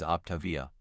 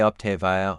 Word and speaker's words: Optavia: The correct pronunciation is Op-TAH-via. Some people might say Op-TAY-via or Op-TAH-via, but that's not quite right. Remember, the emphasis is on V.